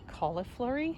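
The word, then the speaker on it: cauliflory: This species does what's called I believe it's pronounced cauliflurry, sort of like cauliflower, um where the blooms come straight off the wood.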